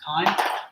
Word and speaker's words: chyme: I know it's like CHY, but it's like pronounced chyme.